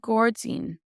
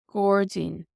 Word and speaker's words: gairdín: And Gordzine, Gordzine, garden.